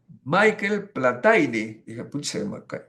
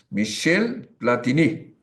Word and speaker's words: Michel Platini: veo el periódico y era un francés Michel platini que en francés se pronuncia así Michel platini y pero si nosotros leyéramos su nombre Como si fuese escrito en español sería Michel platini Michel platini está muy mucho más cerca de la realidad que Michael platani que no tiene nada que ver o sea la huachafería